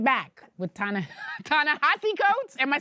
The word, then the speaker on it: Ta-Nehisi Coates: We'll be right back with Ta-Nehisi Coates.